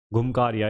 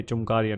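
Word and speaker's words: घुमकुरिया: घुमकारिया ये चुमकारिया नहीं है भाई।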